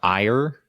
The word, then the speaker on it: Iri: kyrie um and i'm going to go with i r e just simple short you are correct and bought